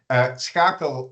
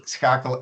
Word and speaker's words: Schakel: But you're lucky, because at the Dutch-Flemish border, we still use the soft G. So it's just Schakel and not with the